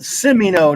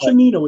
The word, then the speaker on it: Cimino: I'm sorry, CIMINO with CIMINO now, of course. But that's a but it's actually the C is actually pronounced with the S. It's actually not CIMINO.